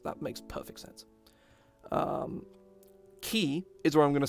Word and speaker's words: ki: and learns the power of ki or chi or kui if you really want to pronounce it very wrong um i think he